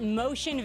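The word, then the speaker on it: Moshin: Yeah, but not spelled like you think it's spelled. It's M-O-S-H-I-N.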